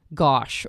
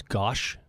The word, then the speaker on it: gauche: word did you use gosh I think is actually how it's supposed to be pronounced gauche I don't know what